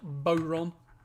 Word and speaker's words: bodhrán: How is the name of the traditional Irish drum pronounced bodhrán actually spelled?